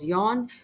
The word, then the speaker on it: Jean: Jean is pronounced as Jon.